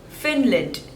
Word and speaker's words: Finland: Fiji next is Finland Finland there are two syllables and the stress is on the first one Phil lent Finland Finland